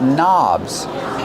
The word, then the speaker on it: knob: These are called knobs. The word knob has a silent K on it. Don't pronounce the K, start with the N sound, knob.